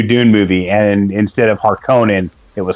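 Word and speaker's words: Harkonnen: uh the new Dune movie and instead of harkonin it was harkening and it just it just dropped me out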